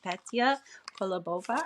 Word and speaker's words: Petia Kolibova: Today, I have a wonderful special guest, Petia Kolibova. I hope I pronounced that right.